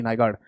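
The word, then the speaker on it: Nygaard: इसकी स्पेलिंग है एन वाई ji double A आर डी नाइगार्ड।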